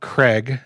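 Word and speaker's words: Kreg: two amazing things from a company called craig it's spelled kind of strangely k-r-e-g but they make a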